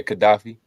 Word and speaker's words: Gaddafi: Yet Libyan strongman Muammar Muammar Gaddafi. Gaddafi, Gaddafi. So, like, how Yep. did you pronounce that? Gaddafi. Yeah, Gaddafi.